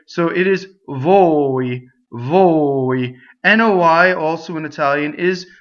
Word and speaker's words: voi: And it does not rhyme with voi. It's actually a closed O, right? So closed O, right, is O, as in oats in English, right? So it is voi, voi.